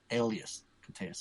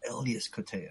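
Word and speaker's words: Elias Koteas: people always say that correctly incorrectly it's actually Elas Kas I'm like mind blown man it's Elas Kaya so Casey Jones is Elas Ka so now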